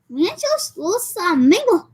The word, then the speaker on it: Ranchos Los Amigos: It's actually pronounced like this. Ranchos Los Amigos. Ah, that's very good. Gotta say with the accent.